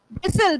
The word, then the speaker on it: bristle: Bristle, bristle. Bristol nahi, turn nahi, sir. Right, T is silent.